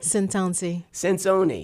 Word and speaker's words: Centonze: Did I pronounce that right? Centonze.